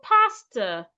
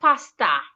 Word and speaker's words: pastor: Same with words ending in OR. Say pastor, not pasta.